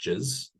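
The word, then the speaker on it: GISS: It's called jizz. So it's spelled G-I-S-S, but pronounced jizz.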